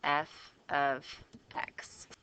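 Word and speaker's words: f(x): And this what this means how you say it is f of x. That's literally how you say this thing.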